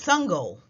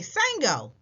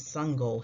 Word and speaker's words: Sangoel: he would call next my name is sungol he said before the coach could say it wrong as sungo walked home from practice one of his teammates ran up hey sango my name is sungol